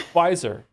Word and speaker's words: Bizer: Also, the name's pronounced like Kaiser with a... Wait, what? The B turned into a sunglasses emote. So it's Bizer.